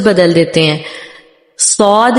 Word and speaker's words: صاد: صاد کے بجائے سواد ہو جاتا ہے یا زواد ہو جاتا ہے، ٹھیک ہے.